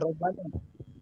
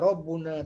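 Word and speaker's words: رَبُّنَا: Ya, di situ mubtada, jangan robbana. Ya, jangan robbana bacanya. Rabbuna (2).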